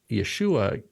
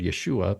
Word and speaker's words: Yeshua: a transliteration of the Aramaic word Yeshua but there's no sh sound in Greek so they use a sigma right they use the S sound and the idea is that people who know will pronounce it like a shin you know um and